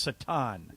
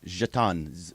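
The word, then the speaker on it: Šatan: his name is is spelled s a t n and not surprisingly it is pronounced Satan jhatan Miroslav jhatan did anybody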